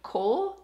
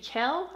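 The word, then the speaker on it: Chaol: I was reviewing Throne of Glass, the first book, and I think I pronounced the dude's name Cole, and it's supposed to be Kel, I think.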